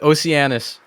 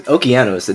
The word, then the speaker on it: Okeanos: Let's go with Oceanus. Okeanos. Wait, it's Okeanos.